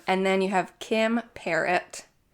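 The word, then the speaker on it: Perrot: then you have Kim parrot parrot yes spelled p e r r o t okay but I like listened I'm pretty sure it's pronounced it's not like pero or anything no I don't think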